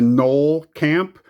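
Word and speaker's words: Gnoll Camp: You come to the Knoll Camp, right? Silent G, Underdark, Basilisk, Manticore, Baleful Beholder, Cleric Class, Trickster's Talisman, Cloister Gargoyle, Delina, Wild Mage, Mountain Angel.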